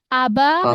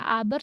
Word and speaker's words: aber: Kalau R di belakang ya dia terbacanya huruf seperti huruf apa, Tian? Kayak ini terbacanya seperti huruf apa sih R-nya? Fat. Hal seperti terbaca di huruf A jadi istigf. Nah, jadi arnya tuh aba ya, bukannya aber tapi aba aba apa ab ya